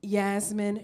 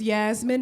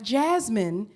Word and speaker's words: Yasmin: my name is Yasmin Yasmine it rhymes with pizzazz or bus your you know what seriously my name is Yasmin not Jasmine not yes mean but Yasmin with a why if you cannot get